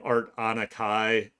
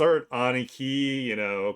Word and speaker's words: Art Aniki: Trust me, people will say my name wrong all the time. They're like they call me like Art Anakai. So it's Art Aniki, kind of like like a Japanese delinquent. Like I'm your Aniki.